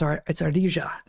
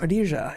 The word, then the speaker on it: ardilla: squirrel, Spanish for squirrel, is always pronounced with a j. It's ardilla.